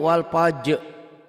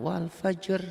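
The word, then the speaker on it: والفجر: Bacanya dia wal fajr, dikol-kolahkan. Jangan, ini jangan dikol-kolahkan. Wal fajr tuh.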